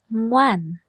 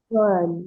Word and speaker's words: Ngoan: My name is Ngoan. Noan. NG. Thank you. You pronounced correctly.